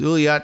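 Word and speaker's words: Ullyot: said in the statement my name is ulot no one knows how to pronounce it uh we are pleased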